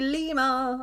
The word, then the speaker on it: lima: Lima means the number 5, but we pronounce it Lima.